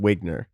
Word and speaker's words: Wiegner: Wiegner. Close, but wrong. Okay. All right, I'm out. That was it. Nah, I had one chance. It's so I think it should be technically Wiegner because it's German.